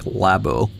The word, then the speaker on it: labo: to Otacon's or Hal's labo. Keep out. There's a little detail here on the door. You'd think it would say lab, but in Japanese it's more like labo, short for laboratory.